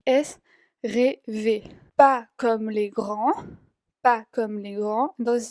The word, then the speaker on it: grands: Pas comme les grands. Entonces ven que la D y la S al final no se pronuncia para nada.